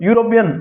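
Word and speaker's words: European: अब यहाँ पर देखो, यूरोपियन, ई, यूरोपियन, ठीक है, यू की साउंड आ रही है यहाँ पर, यूरोपियन।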